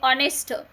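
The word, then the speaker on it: honest: तर धोकादायक त्यानंतर आहे ऑनेस्ट एच ओ एन इ एस T spelling आता काय एच आहे पण त्याच प्रोनान्सिएशन काय करायचं ऑनेस्ट ऑनेस्ट म्हणजेच काय तर प्रामाणिक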